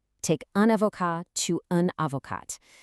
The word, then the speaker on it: avocate: Take un avocat to un avocate. Notice how adding that e suddenly wakes up that previously silent t, so you literally pronounce it.